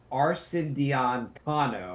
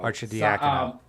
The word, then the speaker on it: Arcidiacono: I love trying to listen to you pronounce people's names. Ryan Arcidiacono. Arcidiacono.